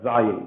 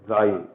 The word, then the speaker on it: Zayin: This is the letter Zayin. The name of the letter is Zayin. And the sound is Z, as in zebra.